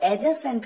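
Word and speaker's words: adjacent: यहां पर एडजेसेंट कहते हैं क्योंकि यहां पर डी साइलेंट होता है, ही सिटिंग एडजेसेंट राम।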